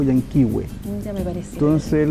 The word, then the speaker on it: Yan Kee Way: Es en base a cómo el ciudadano norteamericano pronuncia el nombre del lago Yankee Way. Ya me pareció. Entonces él lo pronuncia como Yankee Way.